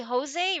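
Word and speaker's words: José: Hey, they see Oh, because they probably pronounce the J like the Spanish J where they they take the J and make it uh into like a English H sound like the the softer sound.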